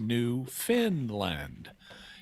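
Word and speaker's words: Newfoundland: It's spelled New Found Land, but it's pronounced New Finland, even though it's not located in Scandinavia.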